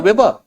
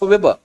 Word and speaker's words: Weber: call first hand because it is a V. In a German language, it is pronounced F.